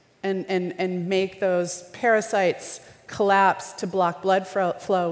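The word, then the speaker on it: pericytes: vessel disease and something called the parasites not spelled like the vermin that are small but PE RI CY tes which are like constrictors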